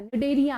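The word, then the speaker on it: Cnidaria: Coral reef, coelenterates है, निडेरिया है, animal है। ठीक है, इसे लिखते सी से हैं बट प्रोनाउंसिएशन निडेरिया करते हैं, सिलेंट्रेट।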